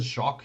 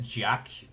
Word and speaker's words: Jacques: Also, if you don't pronounce it Jacques, you're just wrong. That's such a fun word to pronounce. Like, ignore if it's like actually correct. It should be correct, but like even if it's not, it's just so much fun to pronounce it that way. Azul was pronouncing it Jack.